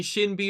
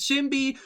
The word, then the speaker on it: SinB: me aware of the fact that i've been pronouncing shin be wrong all the time you know written as sinby pronounces shimbi written as vivids pronounced as bbc asian language